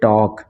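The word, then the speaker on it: talk: तो इसमें क्या होगा एल साइलेंट हो जाएगा जैसे की इसको हम पढ़ेंगे टॉक क्या पढ़ेंगे इसको टॉक ठीक है इसको पढ़ेंगे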